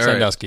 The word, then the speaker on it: Sandusky: I mean, the other thing I find funny is Sandusky. Is that how you say it? Or Sandusky or Sandusky? Yeah. Sandusky.